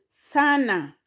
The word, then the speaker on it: sana: The next word, sana. Sana has syllable Sa, Na. Those are 2 syllables.